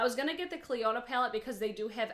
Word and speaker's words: Clionadh: So the first thing I want to let you guys know is the brand is Clionadh Cosmetics. That's how it's pronounced.